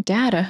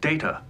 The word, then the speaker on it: Data: this she call him data my name it is pronounced data okay puppies oh my